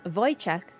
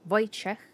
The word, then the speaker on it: Wojciech: First time I came across the name Wojciech, the pronunciation was way different than what I expected. It's actually very simple. W is a V sound in Polish. We don't have the letter V. O is O.